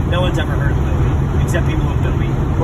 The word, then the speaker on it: Bowie: They're pronouncing it wrong. It's Bowie.